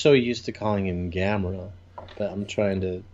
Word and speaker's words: Gamera: Also, did you notice they're calling him Gamera? Yeah. Like Chimera. I wonder if that's just the... And I'm just so used to calling him Gamera, but I'm trying to say Gamera now.